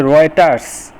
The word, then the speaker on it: Reuters: আচ্ছা, রাউটার বা রয়টার, এটা কিন্তু রাউটার না, এটা হচ্ছে রয়টার্স, এই বানানটা একটু খেয়াল